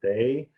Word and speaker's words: Dai: Okay, everyone, my name is Dai, but actually in Chinese they pronounce Dai. It's D-A-I.